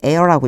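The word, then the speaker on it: heir: 얘가 묵음이에요. 소리가 안 나요. 뒤에 air라고 읽어 주셔야 돼요.이 사람은 상속자다.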